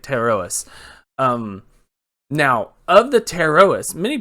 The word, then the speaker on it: Pterois: Red lionfish, or scientific name, Pterois volitans. Pterois volitans. Pterois. I believe that's how you say it. Pterois.